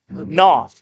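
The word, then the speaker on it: Knauf: Colin Noff K n a UF number 15 is it NF can be kof canal I mean there's all all kinds of ways that one could go right well I would turn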